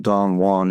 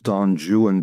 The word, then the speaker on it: Don Juan: And by the way, it's not Don Juan, it's Don Jewan because it rhymes with new one and true one.